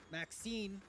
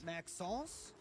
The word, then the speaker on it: Maxence: Maxine is what I'm going with. Maxence. There we go.